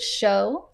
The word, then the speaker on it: Zhu: He pronounces it show. Thank you. The easy way to remember that is that his TikTok handle is Showtime.